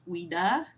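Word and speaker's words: Ouida: in the locket was famous author and popular women's right activist weda that's how you say her name O UI d a whom Peters was known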